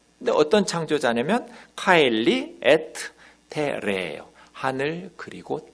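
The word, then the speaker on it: terrae: 카엘리, 에트, 테라에가 아니라 테레. 요거 하나만 조심하면 돼요. 라틴어 발음은. AE가 아에잖아요. 근데 에로 발음해요.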